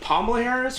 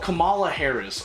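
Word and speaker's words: Kamala Harris: got to this is bothering me is it Poma Harris or kamla Harris P or k Poma Harris okay oh Camala Harris okay I apologize for getting this person's name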